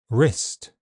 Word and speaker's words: wrist: W is silent in some words. Sword, to, answer, who, whole, and in all words beginning WR. Wrong, wrist, writer.